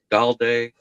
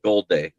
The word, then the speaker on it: Galday: Jack Galday, or is it Golday? How do you say that one? It's Golday. 4-6-2. It's Golday. It's Golday. Golday. You got to say it all together, like Golday.